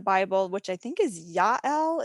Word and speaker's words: Jael: And so my husband had read about a name in the Bible, which I think is Yael. It's Jael.